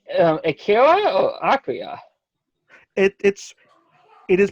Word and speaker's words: Akira: You say Akira or Akira? It is pronounced Akira.